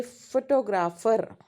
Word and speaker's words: photographer: But in another example, we can say photographer. The stress shifts to the second syllable.